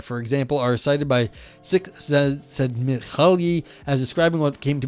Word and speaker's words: Csikszentmihalyi: Gruz and Bueller, okay there, for example, are cited by Csikszentmihalyi as describing what came to be known as function salute, literally activity pleasure in early 20th century.